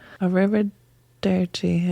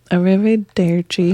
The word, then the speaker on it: Arrivederci: Arrivederci. Arrivederci. Arrivederci. Arrivederci. It's Nicely easier done. to say it when you roll your R's.